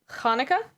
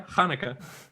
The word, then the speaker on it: Hanukkah: the following in mind the first h in hanukkah is pronounced with a guttural sound that is similar to the sound in lach so hanukkah close yeah hanukkah not everyone can do